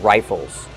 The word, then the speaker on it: rifle: Use a long I like I and like rye. Rifle. Plus a short sound and the dark L. O. Like in table and bottle.